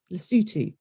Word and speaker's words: Lesotho: as Swaziland, Ghana, Kenya, Lesotho, Rwanda, South Africa, Tanzania and Zambia. I know everyone's thinking most of those are very easy to pronounce, but Lesotho does not look how it's said.